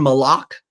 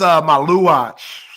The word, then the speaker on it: Maluach: Come on, Malua watch. Vomit. We can show it. For some reason, it's queued up here. I don't know who played it today. Come on, Malak. It's Maluach. Somehow that's Maluach.